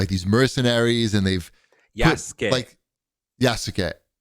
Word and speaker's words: Yasuke: Yasuke. Say it like Yas Queen, like Yas Queen.